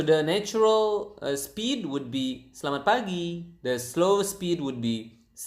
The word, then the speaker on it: pagi: p p so the natural speed would be pagi the slow speed would be okay so again